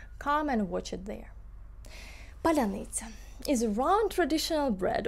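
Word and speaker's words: Паляниця: After several Russians pronounced Palianytsia as strawberry polunitsa, it became an increasingly popular meme across Ukraine and diasporas worldwide.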